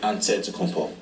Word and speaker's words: Antetokounmpo: In a Greek way, you gotta say with a D, so it's an adetokounmpo. But in the Greek way, you say with an NT, like antetokounmpo. Whatever you got, just say, you know, it's Giannis Antetokounmpo.